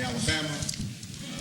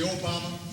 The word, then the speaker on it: Obama: Sometimes they call me Alabama or Yo Mama, but it's actually Obama.